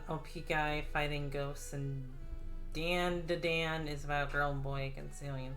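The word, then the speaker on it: Dandadan: guy fighting ghosts and danda dan is about girl boy concealing school i see i see ah let's snack on some chips again it's pronounced done done gotcha hmm oh mobster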